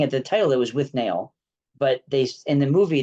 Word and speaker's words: Withnail: will be responding to with nail and I and is it with nail or with null take a pick because they pronounce it in the movie with null I always thought looking